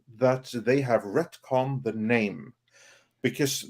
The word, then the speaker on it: Namor: they have retcon the name because Neymar is no longer pronounced name or it is now pronounced Nam which which is more like uh spanishified and it's uh it